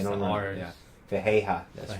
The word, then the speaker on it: Ferreira: Fejeja. Oh, that's They don't right. pronounce They don't the know. R's. Yeah, Fejeja.